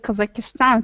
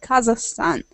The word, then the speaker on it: Kazakhstan: I don't know what why some people just pronounce uh my country like kazakistan because it's like Kazakhstan like interesting I've heard